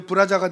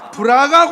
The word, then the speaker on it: 브라가: 이거 발음 조심하세요. 브라자가 되면 큰일 납니다. 이거는 브라가 골짜기. 브라가 골짜기. 점 하나 잘못 찍으면 이상하게 됩니다.